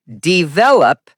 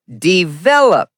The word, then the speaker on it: develop: Wrong is develop. Correct is develop. Example, we need to develop our skills. The stress falls on the second syllable, vel.